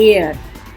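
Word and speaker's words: heir: इसको बोलते हैं एयर. H साइलेंट है, इसमें S साइलेंट है, इसको बोलते हैं आइलैंड.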